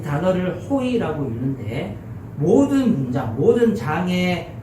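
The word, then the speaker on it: הוֹי: 그래서 이 단어를 호의라고 읽는데, 모든 문장, 모든 장의 첫 번째 단어가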